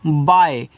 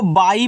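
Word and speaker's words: by: वाई तो इसको पढ़ते हैं बाय बहुत लोग इसको बाई पढ़ देते हैं नहीं ये बाई आपका गलत इसको आप बाय पढ़ोगे यानी कि इस तरीके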